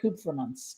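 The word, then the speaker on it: Kupfermunz: last name is uh cook for months coopermans k-u-p-f-e-r-m-u-n-z and we've not only worked together for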